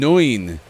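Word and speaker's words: neun: was right snufkin so nine is no and noin is nine yes okay that's very similar nice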